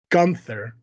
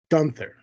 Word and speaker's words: Gunther: mentally focused on yeah Gunther don't know why you're saying it weird that's how they say it on commentary Gunther is it I thought it was gther I've heard it say both ways why don't you